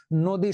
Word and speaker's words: নদী: এই যে দেখো, নদী শব্দ, নদী শব্দে কিন্তু দীর্ঘইকার ছিল, দন্ত ন দয় দীর্ঘইকারে দি, কিন্তু এই যে দয়ের উপরে দীর্ঘইকারটা রস্বই হয়ে গেছে।